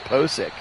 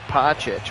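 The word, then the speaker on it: Pocic: look it up kid it is pronounced posik not poche we've been saying it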